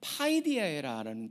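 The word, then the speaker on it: παιδεία: 근데 우리가 보기에는 이게 징계하면은 사실은 오해를 받을 수가 있는데, 이 징계라는 단어 같은 경우에 헬라어가 발음은요 파이디아라는 단어입니다.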